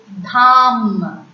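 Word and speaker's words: dame: D-A-M-E, dham. Dham. D-O-D-O, dodo. Dodo. Please don't pronounce D as D in French, it's de.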